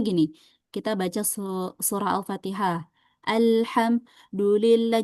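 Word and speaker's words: الحمد لله: Misalnya gini, kita baca surah Alfatihah, alhamdulillah. Jadi, pas alham tarik nafas dulu dulillahi itu salah, ya.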